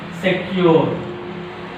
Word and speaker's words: secure: Secure. Secure. Secure. Also disyllabic word. Secure. Secure. Secure. Secure. Secure. Secure. So here silent. Here stress. C. Second syllable. Okay ma? Some disyllabic words take stress on second syllable.